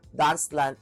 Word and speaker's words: Danse Lente: And this is ang brand nito is ah dancelant or ang spelling is Dancelente but ang pronunciation nito is dancelant means slow dance.